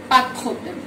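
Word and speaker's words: pas de problème: এই ক্ষেত্রে আমরা এস উচ্চারণ করব না, আমরা সরাসরি পা এখান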